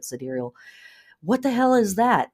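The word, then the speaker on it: sidereal: Gemini in siderial astrology if you're like siderial or cidal side ceral I've I've heard the word pronounced a variety of ways I say it siderial what the hell is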